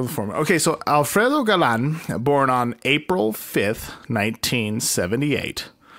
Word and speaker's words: Galan: But yes, Alfredo is spelled how it sounds, but Galan is Galan.